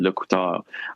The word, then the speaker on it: LeCouteur: But I appreciate you noticing that, because I do my darndest as somebody who's got a last name that I anglicize, because in French it's actually Le Couteur.